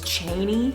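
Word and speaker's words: Chani: you pronounce it because it said that Frank Herbert pronounced her name is Cheney but when I was reading it I pronounced it as channi so um um I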